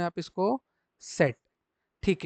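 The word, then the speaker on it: Zett: में जब प्रोनाउंस करेंगे तो जर्मन में इसको प्रोनाउंसिएशन आपका जो निकलेगा वो क्या निकलेगा एवरीवन सेट क्या बोलेंगे जर्मन में आप इसको सेट ठीक है तो ये जो आपके अल्फाबेट्स होते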